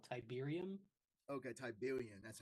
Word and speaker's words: tiberium: they're all fighting over is called tiberium okay tiberium that's how you say it okay yeah and